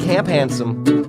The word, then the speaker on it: Camp Handsome: you a camp Ansem which i love to rhyme with grandson camp had some mop like handsome it's camp handsome thank you you